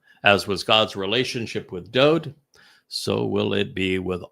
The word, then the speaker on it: Dowd: And the Wah is a vowel and is pronounced as the O sound.